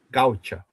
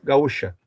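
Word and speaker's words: gaucha: Fiesta de la pátria gauta. Assiste assim é pronúncia lá no Uruguai. Se nós pronunciar em português, festa da pátria gaúcha.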